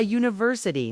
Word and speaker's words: university: We say a university not an because the sound is u. A consonant u.